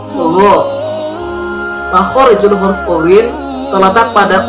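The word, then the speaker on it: غ: Yang ke-19 yaitu huruf ughin, pelafalannya ugho.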